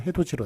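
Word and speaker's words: 해돋이: 그래서 원래 해도디로 그렇게 써야 됩니다만 발음은 해도지로 나는 것.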